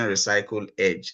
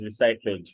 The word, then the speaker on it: recyclage: profile, but before then, you pronounced it recyclage, and I have been pronouncing recycle edge. So what's the correct one? The correct one is recyclage, basically. Recyclage. Okay, so not recycle edge.